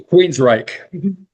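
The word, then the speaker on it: Queensrÿche: Queens Reich.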